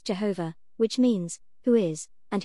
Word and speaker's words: Jehovah: to the holy of holies were protected is pronounced Jehovah which means who is and who shall be